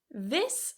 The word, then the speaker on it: this: This and these, number seven. The difference here is the vowel and the ending. So we've got two things to focus on here. This this. Has a very very short vowel. This. And the ending is a voiceless S, this.